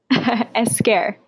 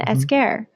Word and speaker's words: Esquer: Tell the proper pronunciation of your last name for a listener. Esquer. My Instagram handle used to be. So it's Esquer.